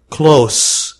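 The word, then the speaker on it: close: الى ان هذه نطقها كلوس حرف الاس هنا نطقه سا وليس ز يغلق ز كلوز كلوز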